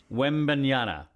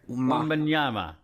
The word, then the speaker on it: Wembanyama: You just brought him up, Wembanyama. I mean, like, wait, one more time. Wembanyama. It's an M at the end there. Wembanyama.